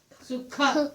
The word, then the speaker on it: सुख: The kha sound really comes from here. When you pronounce it kha, sukha, this is where you should feel it. Kha, kha, kha. See that? This is where the movement is happening.